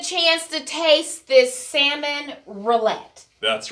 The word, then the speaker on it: rillettes: Hey, y'all, we are back, and I get a chance to taste this salmon rillette.